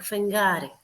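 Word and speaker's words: φεγγάρι: it's written with hamahama it's not good like garas it is like fengari these are the letters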